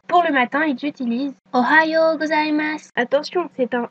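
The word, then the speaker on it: おはよう: Pour le matin, ils utilisent Ohioas. Attention, c'est un O. Faut aussi faire attention à bien prononcer le ha. Donc on ne prononce pas Ohio mais Ohio.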